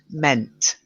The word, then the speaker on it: meant: If you don't get the T at the end, it's going to sound like men. And because we're talking about men and women in this text, it would be confusing. So meant. Meant.